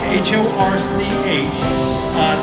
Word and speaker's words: Horch: it's important to note this is a Horch, H-O-R-C-H. Some people pronounce it Porsche, but I choose to pronounce it Horch and say that without any kind of difficulty.